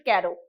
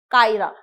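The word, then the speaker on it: Cairo: France रोम, Norway हवाना और Egypt कैरो, जिसे कैरा पढ़ा जाता है, ओ साइलेंट होता है, कायरा।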